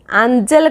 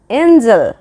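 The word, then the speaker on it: angel: fragile as रेंज चेंज next एंजल आंगल कहबनी आंजल कहबनी कौन आंजल नुह आंजल पूरा भूल एंजल एंजल मो सहित प्रोनाउंस कर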